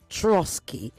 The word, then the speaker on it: Troitskiy: His name, and I'm going to try and pronounce it the right way, is Troitskiy.